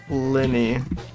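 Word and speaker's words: Linnaeus: did you know know his name is pronounced Linny how am I supposed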